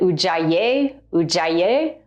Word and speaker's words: Ujjayi: The breathing technique is called the UA breath and some people pronounce it Ujay UA.